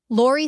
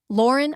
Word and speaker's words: Lauren: "Lori, thanks for coming." "Lauren," I corrected.